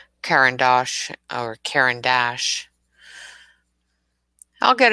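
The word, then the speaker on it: Caran d'Ache: with words um and trying to pronounce the names of things like karen dash i've been calling it all sorts of things that aren't right um you know somebody corrected me again today of karen dosh or karen dash i'll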